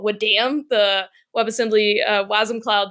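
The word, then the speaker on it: wadm: created what we call Wood Dam the web assembly wasm Cloud deployment this is great w Dam yeah we say it like a punch yeah go we say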